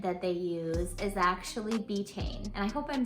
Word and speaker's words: betaine: The second ingredient that they use is actually betaine, and I hope I'm saying that right. It's spelled B-E-T-A-I-N-E.